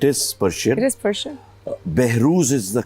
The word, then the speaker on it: Behroze: Behruz is the correct pronunciation. Behroz. Behruz.